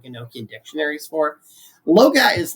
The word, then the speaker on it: Loagaeth: So the first one, Scott, what is Liber Loga, or Logath, or however it is pronounced? Liber Loga is actually it's pronounced Loga, like Logah, Loga.